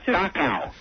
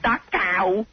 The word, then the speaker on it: Dachau: You can't even pronounce it right. Oh, wait a minute. I'm still trying to guess. Dachau. It's not Dachau.